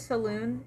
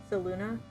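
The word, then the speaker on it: Selûne: we pronounce it as Saloon in the um in the campaign but uh I guess the official pronunciation according to Baldur's Gate is uh saluna but I don't subscribe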